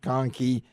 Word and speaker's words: Kahnke: Yeah, and that's Kahnke. I made sure I found out how to pronounce it, Conkey.